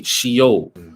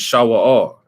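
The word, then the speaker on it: Sheol: grave right which is the hebrew word some skies would say shio right or you know we would pronounce it shawwal right now that's the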